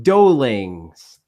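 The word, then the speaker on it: Doughlings: It's Dolings. So DOUGHLING. Doe. In my head, it's like doe, like doe, a deer, a female deer.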